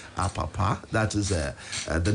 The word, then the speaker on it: Apapa: You asked for the name and get the right pronunciation of the name. So his name is Apapa.